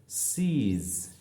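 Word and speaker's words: seize: সুতরাং এখানে এস ই আই, এটা মিলে হবে ই, এটা মিলে হবে ই, শেষে হচ্ছে জেড ই, হচ্ছে জ। সুতরাং ওয়ার্ডের প্রনাউন্সিয়েশনটি হচ্ছে সিজ, সিজ।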